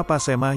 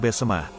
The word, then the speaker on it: Besemah: Nama Pasemah yang kini dikenal sebetulnya adalah lebih karena kesalahan pengucapan orang Belanda. Demikian menurut Muhammad Saman, seorang budayawan dan sesepuh Besemah. Adapun pengucapan yang benar adalah Besemah sebagaimana masih digunakan oleh penduduk yang bermukim di pagar alam suku Besemah, yang sering